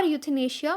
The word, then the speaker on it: euthanasia: of the word so whether you pronounce it as euthanasia or euthanasia both are correct according to Britain in American pronunciation so whatever you feel comfortable you can pronounce as such so let's move forward